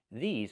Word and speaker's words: these: These are cars. Not this is cars, but these are cars. Pronunciation. Make the long E sound like green beans. E, these, plus the Z sound like zebra.